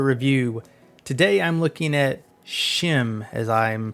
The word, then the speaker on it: SCHiM: Tavern with another review today I'm looking at shim as I'm pronouncing it shim is a new 3D platformer